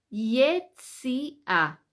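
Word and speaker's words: יציאה: Cómo se dice salida se dice yesia vamos a escribir y griega t de Tomás y de Italia a con acento en la Yesi a eso es salida Dónde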